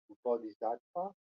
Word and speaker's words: Bodhisattva: It's pronounced Bodhisattva.